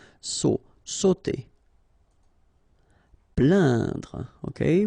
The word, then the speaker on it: plaindre: Plaindre. Okay, when you combine this A, I, N, you will get the sound un. So really, this nasal sound in your nose.